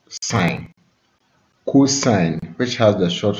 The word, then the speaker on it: sin: The three trig ratios are sine, which has the short form sin and is pronounced sine, cosine, which has the